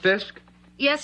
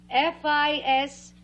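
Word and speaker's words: Fiske: Fisk. F-I-S-K-E. Fisky, isn't it Fisky? That's cute. That's like Fisky, isn't it Fisky? No. It's Mrs. Gloria Fisk.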